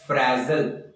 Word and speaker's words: frazzle: इसका जो प्रोनाउंसिएशन है वो है फ्रेजल। जी हाँ, फ्रेजल इसका प्रोनाउंसिएशन है।